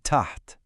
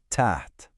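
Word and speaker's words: تحت: For that, we can use the word tat pronounced tat and it just means under.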